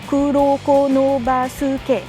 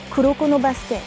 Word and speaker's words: Kuroko no Basuke: Là il n'y a pas vraiment de difficulté, il y a juste syllabe. Kuroko no basuke. Kuroko no basket. C'est juste qu'en français on a le basket, on aura tendance à dire Kuroko no basket ou alors Kuroko's basket.